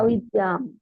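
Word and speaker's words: अविद्याम्: avidyam. Avidyam. Has to be pronounced. That is why that apostrophe is there.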